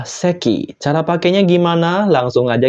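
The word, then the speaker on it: 石: dengan cepat ya minasang untuk kunyominya adalah isi yang artinya batu sedangkan ongyominya adalah seki Cara pakainya gimana Langsung aja kita ke contoh contoh yang pertama Nah kalau berdiri sendiri tentu saja dibaca isi yang artinya batu contoh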